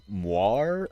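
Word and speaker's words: moiré: the really cool uh moir effects I believe is how it's pronounced m o i r e it's French I think it's named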